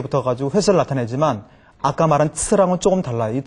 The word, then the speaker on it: 次: 자, 발음이 츠라고 하는데 이 츠는 동사 뒤에 붙어가지고 동작의 횟수, 동작의 양을 말하기 때문에 동량사라고 하거든요.